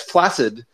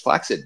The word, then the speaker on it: flaccid: capitalist by by uh describing his genitalia as flaccid and richard hendricks points out actually it's pronounced flaccid most people don't know that uh so and